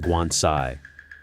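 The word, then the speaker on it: 棺材: In Chinese, coffin is pronounced guansai.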